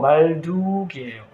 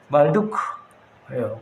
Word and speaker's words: 말두크: 말뚝이 나오면 한국말 같지만 무슨 말뚝이 아니고 말둑이에요. 원어예요. 영어로 M-A-R-D-U-K. 조금 이 영어 발음을 하면, 외래어 발음을 하면 말둑이 아니고 말두크예요.